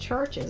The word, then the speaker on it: CHVRCHES: was thinking and maybe maybe it's pronounced churches I just thought with that being a v instead of a u in there that maybe it might be a different language and not be English but let us know